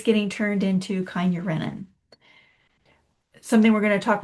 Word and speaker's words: kynurenine: So I pronounce it Kynurenine because I want you to remember, me.